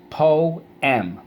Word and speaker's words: poem: And a poem tells a story. Poem. Poem. The last line in the poem, the last stanza was beautiful. First syllable, po. Second syllable, m.